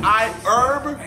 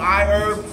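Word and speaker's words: iHerb: video is sponsored by I herb it's i h e RB but herb is how you pronounce it but anyways I want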